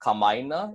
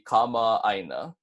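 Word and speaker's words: kamaʻāina: Keep in mind the okina that's breaking the two a's in the middle of the word. So instead of saying kamaina, it's going to be kama'aina.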